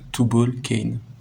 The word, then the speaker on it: Tubalcain: a parlé de le tube all qu'un je vous avais dit qu'on y reviendrai ça s'écrit comme ça mais en anglais ça se prononce tout ball came to book est ce